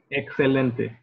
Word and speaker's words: excelente: Excelente or exacto have an X in the middle, right? And it sounds like a CS sound. Excelente, exacto.